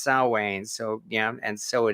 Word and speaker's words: Samhain: halloween or someone as they call it or s-a-m-h-a-i-n yeah it's no it's not pronounced samhain it's pronounced salwain so yeah and so it is or as